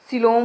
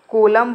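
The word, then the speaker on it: coelom: तो option A क्या है, फ्लेम सेल्स होती हैं, सेकंड क्या है, सिलोम होती है, ठीक है, या फिर कोलम बोलते हैं, इसे क्या बोलते हैं, कोलम भी प्रोनाउंसिएशन करते हैं, या फिर नेफ्रेडिया होती है, या फिर इनमें से कोई नहीं होती है।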